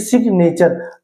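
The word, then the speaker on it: signature: गए एक वर्ड के, इसलिए यहाँ पे जी साइलेंट नहीं है। ऐसे सिग्नेचर, अब यहाँ पे देखिए सिग्नेचर का शॉर्ट फॉर्म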